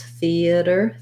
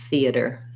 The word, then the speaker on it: theater: english than american english we do it as three syllables theater theater this t becomes more of a flap so it sounds kind of like fee uh with first syllable stress theater theater um yeah and